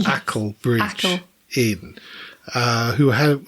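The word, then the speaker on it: Acle: We kept pronouncing it Arkland, was told off, but it's Ackle Bridge Ackle.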